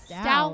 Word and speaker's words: Stout: So, it is Stout like wow.